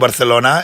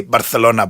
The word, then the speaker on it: Barcelona: do the cross because I was the only person in Channel 10 that could say Barcelona properly. Barcelona, Sean. It's almost Barcelona. When you're over there, if you don't say it properly like that, everyone gets angry because the Catalonians, that's the way they say it, don't they?